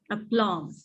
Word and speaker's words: aplomb: Yes, the word is aplomb. Aplomb. Aplomb. It is pronounced as aplomb.